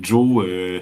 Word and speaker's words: Jos: Est-ce que c'est bien le violon de Joe ou violon de Joss? Parce que c'est Oui. J-O-S. C'est le violon de Joe.